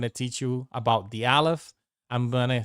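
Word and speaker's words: Aleph: as I was saying so Alf is the first letter of the Hebrew alphabet and it is a silent letter like if you want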